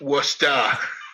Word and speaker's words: Worcester: Just so you know, it's spelled Woostah. Worcester.